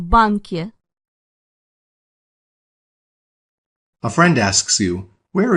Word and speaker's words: банке: Я работаю в банке. Did you remember to add that yeah sound at the end of bank?